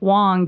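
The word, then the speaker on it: Hoang: so my name is Wong and it's spelled h-o-a-n-g but it's pronounced w-o-n-g and you can call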